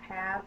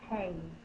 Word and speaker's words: have: That's also why this word have is pronounced have, not have. It's a sight word.